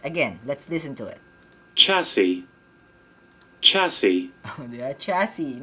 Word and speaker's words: chassis: Now I know, it's chassis, not chassis. Again, let's listen to it. Chassis.